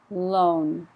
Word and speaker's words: loan: halfway loan pronunciation oh-oh loan loan so be very careful to put the N on the end because if you don't it sounds like low like high low I need to hear